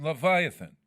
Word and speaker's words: Leviathan: Leviathan.